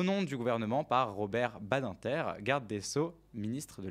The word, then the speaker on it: Badinter: Comment tu prononces Ah oui, moi Badinter. Moi j'étais Badinter. Ah, ok. à l'English. T'as un agenda. Voilà, on va le faire à la France, Badinter.